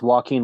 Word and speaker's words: Joaquin: any other Joaquins, and it's spelled differently than you say it. Joaquin. That's a weird one. There's another Joaquin someday. You can't help but think of this one. it's Walking Had a brother Wild.